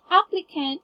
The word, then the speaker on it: applicant: So, just to give you a heads up, applicant should be pronounced as applicant. It's, yeah, this is actually a short A.